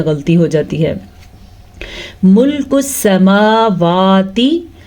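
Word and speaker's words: السَّمَاوَات: جاتی ہے۔ ملک السماواتی، سین کے اوپر صرف اور صرف زبر ہے، اس کو ہم لمبا نہیں کریں گے زبر کی وجہ سے۔ میم اور واو کے اوپر کھڑی زبر ہے تو اس کو ہم کھینچ کے پڑھیں گے، کیسے؟ ملک السماواتی والارض۔ را ساکن سے پہلے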